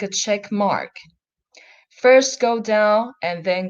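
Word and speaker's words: 马: When it's first tone, it's mother, ma. When it's third tone, it's horse, ma.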